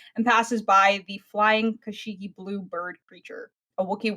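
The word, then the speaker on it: Kashyyyk: 3 is Kashyyk, I think is how it's pronounced. Kashyyk. Kashyyk. Kind of depends on who you ask.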